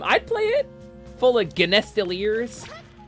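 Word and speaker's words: genestealers: play it full of genestiliers I think it's pronounced Jean Steelers actually but you know okay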